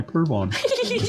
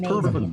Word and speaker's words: Pervin: And then they called me Pervon. Yeah. It's pronounced Pervin.